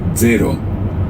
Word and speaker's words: zero: 0 in Italian is very straightforward. It's zero. 0. 0. 0. 0. 0. 0. It's like a DZ sound at the beginning.